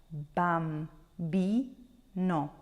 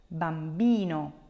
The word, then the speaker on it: bambino: me Break It Down Bam bi no let's find the second to last syllable which one is